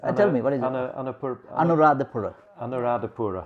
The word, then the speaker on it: Anuradhapura: Now I'm not going to be able to pronounce this. Tell me, what is it? Anuradhapura.